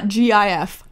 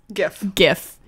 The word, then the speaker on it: GIF: How do you pronounce .gif? GIF. It's definitely not GIF. I don't care what you say.